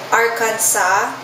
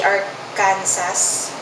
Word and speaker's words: Arkansas: yung iba hus pero alam ko nga ang pronunciation is hus crime arkansa hindi Arkansas This is I think the state one of